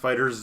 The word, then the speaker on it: FighterZ: No, it's pronounced fighters.